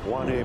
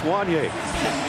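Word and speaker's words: Wanya: it looks like uh it rhymes with kanye and i said only in this day and age would we use kanye as a reference to pronounce juanie so kanye west if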